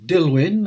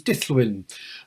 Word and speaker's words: Dillwyn: Some Welsh people pronounce Dillwyn as Dillwyn and some as Dillwyn.